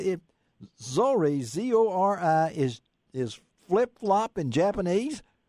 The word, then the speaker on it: zori: So the name, it's Zori's. That's Z-O-R-I-Z. Okay. Now, Zori, Z-O-R-I, means flip-flop in Japanese. And Japanese... what? No, say that again. Whoa, no, let's say it. Zori, Z-O-R-I, is flip-flop in Japanese?